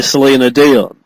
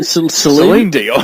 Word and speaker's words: Celine Dion: and that was actually redone by Selena Dion. Selena Dion. Yeah, Celine Dion.